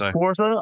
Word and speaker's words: Sforza: My name is Sforza.